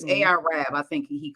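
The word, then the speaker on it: AR-Ab: Is spelled Arab, but it's AR Rab.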